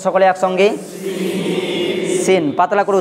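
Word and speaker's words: سين: যেমন নোক্তা না থাকলে সেই অক্ষরটাকে আমরা দন্ত স দিয়ে পাতলা করে উচ্চারণ করব, যেমন সিন, যেমন সিন।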